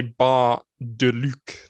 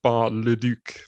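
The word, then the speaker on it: Bar-le-Duc: that because it it it looks like it should say ba de luch not bar le duke but uh got through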